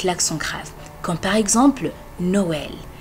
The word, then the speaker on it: Noël: grave comme par exemple Noël Noël le e il est plus ouvert et donc c'est comme E avec un accent grave mais aussi il y